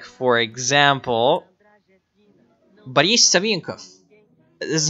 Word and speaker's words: Boris Savinkov: But like the problem with Russia and the doctor is that whenever a syllable with O is not emphasized, you're supposed to pronounce it like ah. So like for example, Boris Savinkov.